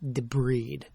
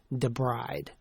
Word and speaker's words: debride: Remember, it's pronounced deb breed, not debride.